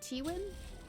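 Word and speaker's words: Tywin: I believe it's pronounced like Tiwin.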